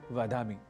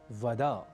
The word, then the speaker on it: वद: यहाँ एक शब्द आया वद, पर हम संस्कृत के इस शब्द को अन्य भाषाओं से प्रभावित बल्कि कुप्रभावित होकर बोल जाते हैं वद, यानी त्वं नमो नमः वद।